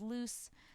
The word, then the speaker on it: Loos: which is L however I myself pronounce my name as if it were spelled loose since most people pronounce